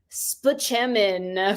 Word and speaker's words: Spaceman: that is Dr Leo spaman from 30 Rock or Leo Spaceman but span is how you say it everybody uh okay um some